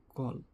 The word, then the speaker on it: coal: তাহলে গ্রেটারের আশপাশে আনসারটা কি, কল, বা এটার আমরা কয়েল সবাই বলি, বাট উচ্চারণটা হবে কল, COAL, কল।